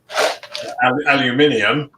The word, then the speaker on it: aluminium: don't work like that as you said alluminium is just wrong for dinner that's a good dinner too aluminium is I'm sorry to my American friends but correct pronouncing yeah that's yeah that's